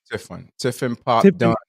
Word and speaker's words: Tiffin Pop Dunn: How you pronounce his first name? Tiffin Pop Dunn. Tiffin Pot Dunn.